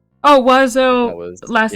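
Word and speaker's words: oiseau: It's like wazoo. I believe that's how you say it. Well, Wazoo. bird in French is wazo. I just add the R sound.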